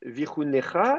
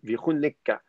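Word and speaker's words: ויחנך: Tout à l'heure, donc Théo avait lu Vichunecha et j'ai dit attendez, il y a un dagesh, donc Vichuneka. Normalement, le suffixe s'écrit cha et pas ka.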